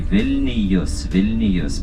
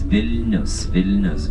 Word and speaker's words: Vilnius: Yes, indeed, when we are pronouncing in English, you say, and many people of course say Vilnius, but it's Vilnius, because of the river.